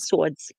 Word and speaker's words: swords: what nationality they were that said swords they actually not even in that accent but actually pronounced the W you know oh yeah